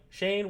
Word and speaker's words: Shane: yeah he's like your your name kind of want rhymes with the wayne i'm like shane wayne yeah yeah it's